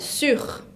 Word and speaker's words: sur: Sur, de arriba, el que está encima, tengo que escuchar la R final. Sur. Como si fuera una J.